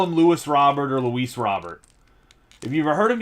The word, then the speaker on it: Robert: They call him Louis Robert or Luis Robert. If you've ever heard him give an interview, his name's Robert. Very common Spanish name. A very actually common Cuban name is Robert in Spanish.